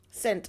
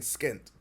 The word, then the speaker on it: scent: It's the C. Because you're not saying skent.